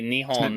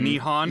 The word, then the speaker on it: Nihon: Japan hi it's good how do you say Japan in Japan you say Nihon Nihon yeah Nihon n-i-h-o-n yeah I'm